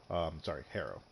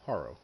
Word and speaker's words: Harrow: Harrow. No, Harrow.